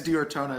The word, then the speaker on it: D'Ortona: Is it Diorona? Did I pronounce that right? Yeah, it's Diorona. It's actually it's Italian for of Ortona.